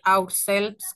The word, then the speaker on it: ourselves: Y ourselves, ¿cómo se pronuncia? ourselves. Así como ourselves. Lo dijo, ourselves. Así. Ourselves. Ajá. La E es muda.